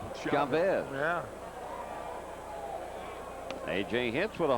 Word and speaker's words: Chavez: Thank heavens they started pronouncing his name Chavez.